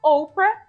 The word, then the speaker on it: Oprah: O nome de batismo dela era uma referência bíblica, mas quando ela era bebê, as pessoas pronunciavam o nome dela Oprah, então acabou pegando.